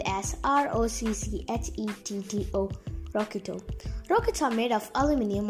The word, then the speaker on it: rocchetto: The word rocket, found in Italian called rocketto, it is spelled as ROCCHETTO, rocketto.